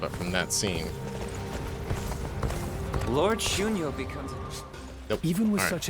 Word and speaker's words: Xun Yu: Oh, Lord Xun Yu.